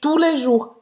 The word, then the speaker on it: tous les jours: Tous les jours. Presta atenção aqui, que nenhum S é pronunciado, tá?